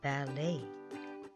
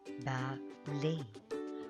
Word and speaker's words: ballet: The word is ballet, ballet. The T is silent.